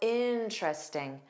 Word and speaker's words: interesting: Interesting. There are three sounds. So, that first e is silent because if it were pronounced, it would have created four sounds. But we have interesting.